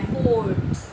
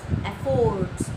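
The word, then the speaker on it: efforts: इस वर्ड को लोग बोलते हैं एफोर्ट्स, एफोर्ट्स, इट्स नॉट एफोर्ट्स। भले ही उसमें ओ आ रहा है स्पेलिंग में, बट the pronunciation is एफर्ट्स, एफर्ट्स।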